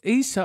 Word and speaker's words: Issa: about uh the director is it Isa Isa Isa Lopez let me pronounce that correctly a Issa is Issa oh I was right the first time Issa uh Lopez wasn't she